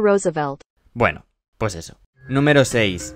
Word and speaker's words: Roosevelt: es algo número seis theodor rosevelt Bueno creo que no se dice así theodor Roosevelt Bueno pues eso número